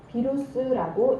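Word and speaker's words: virus: 바이러스, 라틴어로 독이라는 뜻으로 비루스라고 읽는다고 하네요.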